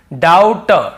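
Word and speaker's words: doubt: लेकिन क्योंकि हमें बी को नहीं पढ़ना है टी के पहले तो केवल डेट डेट फिर देखिए डाउट डाउट डाउट नहीं पड़ेंगे डाउट ये मैं आपको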